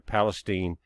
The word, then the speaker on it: Palestine: When I was doing the article, I put in on my map Palestine, the Yankee pronunciation there, Palestine, Ohio, instead of East Palestine.